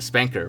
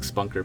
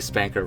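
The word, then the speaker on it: SPNKr: the rocket launcher, and even more specifically, the Spanker rocket launcher, which is the correct way to pronounce the name. I've heard some silly pronunciations of Spanker out there. I think someone said like Spunker before, but it's definitely Spanker rocket launcher.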